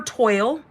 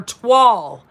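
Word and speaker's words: Toile: So you have until Wednesday to get your hands on the Fall for Toil. I know that word, or twall. Twall, that's the word, twall. Fall for Twall. That's right, it rhymes.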